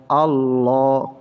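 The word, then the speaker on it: الله: হামজা লাম জবর আল লাম খাড়া জবর লা উচ্চারণটা হবে আল্লাহ আল্লাহ কারণ আল্লাহ শব্দের তাশদিদের আগে যদি জবর থাকে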